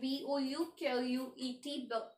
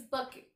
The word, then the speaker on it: bouquet: So in writing you will write B-O-U-Q-U-E-T, but in its pronunciation is bouquet.